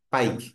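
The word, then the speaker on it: Pike: বা পিকে একটা মানে বাংলা উচ্চারণ হচ্ছে পি আই কেই পাইক এটা মনে রাখবেন পাইক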